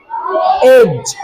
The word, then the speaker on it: edge: क्या पढ़ेंगे, ब्रिज, ब्रिज, EDGE, एज, D silent, D silent, एज, HEDGE, हेज, D silent, हेज, WEDGE, वेज, D silent, veg.